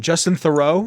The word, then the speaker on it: Theroux: Justin Theroux?